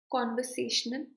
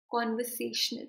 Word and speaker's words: conversational: Conversational. Try saying it again. Conversational. You can note that the say is standing out the most compared to the rest of the syllables.